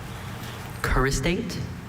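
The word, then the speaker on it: choristate: Charistate? Charistate or charistate. Charistate. C-H-A-R-I-S-T-A-T-E. I. S-T-A-T-E, Charistate. Charistate is spelled C-H-O-R-I-S-T-A-T-E.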